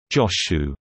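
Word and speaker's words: Jōshū: Zhao Zhu is rendered as "Chao Chu" in Wade Giles, and pronounced "Joshu" in Japanese.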